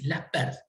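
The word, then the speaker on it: Laspeyres: Que son el índice, el que se escribe Las Peires, que se llama el índice de Laspers, ¿sí? Se pronuncia así, Laspers.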